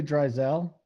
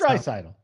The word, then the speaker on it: Draisaitl: There's all these silent letters, these European names. You just got to watch yourself, you know? It's Draisaitl.